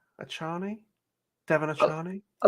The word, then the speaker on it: Achane: How do you spell it, Ash? Achane. Achane? Devon Achani?